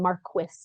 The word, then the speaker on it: Marcus: I do call it Marcus Hall we were told that the family pronounces the name Marquis Mar oh okay so